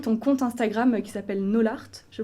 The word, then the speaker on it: n0lart: Voilà, mais avant ça, je t'avais découverte sur les réseaux sociaux avec ton compte Instagram qui s'appelle Nolart, je prononce bien Nolart, ouais.